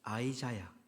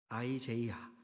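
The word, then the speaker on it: Isaiah: 히브리어로 예야후 이렇게 발음하고요. 영어로는 아이자야, 아이제이야 이렇게 읽습니다. 아이자야라는 어 찬양팀이 아마 익숙하실 것 같습니다.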